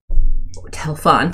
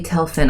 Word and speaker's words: Telphen: um the red robed figure with them who you have met before and can recognize as Aloyia Telphen um Telon technically Telphen. I looked at the pronunciation guide um says, "Well done, heroes.